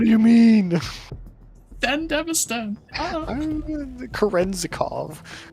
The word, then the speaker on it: Kerenzikov: Kerenzikov. Okay, that one was right.